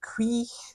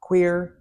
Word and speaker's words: cuir: So the actual pronunciation of this is cuir, kiwi, cuir. The actual interpretation of CUIR is cuir, and it's not queer.